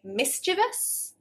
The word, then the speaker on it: mischievous: So let me know below, do you say mischievous, 3 syllables, or mischievous, 4? And then ask yourself, how old are you? You don't have to tell me, but generally speaking, under 35s will have 4 syllables, mischievous.